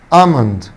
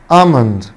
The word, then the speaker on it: almond: almond almond، طبعا حرف الهي اللي هنا حبايبي سايلنت مش بينطق. almond almond.